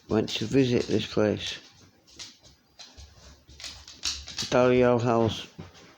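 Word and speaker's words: Dalzell: And on Sunday, went to visit this place, Daliel House. It's pronounced DL, like D and L, not L as in L.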